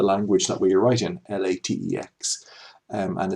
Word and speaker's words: LaTeX: Okay, so that is the language that we write in, LaTeX, and it's pronounced LaTeX.